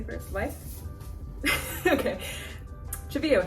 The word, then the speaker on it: Cheveyo: Cheveyo, how did you get your name and how do you pronounce it? Okay, so it's pronounced Cheveyo, and it's Hopi, Native American.